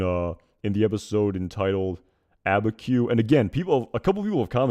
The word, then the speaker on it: Abiquiu: his dialogue in uh in the episode entitled abba q and again people a couple of people have